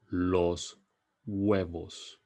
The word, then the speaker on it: huevos: would you say x in Spanish I'm gonna pronounce it for you Los huevos Los huevos let's see how you did Los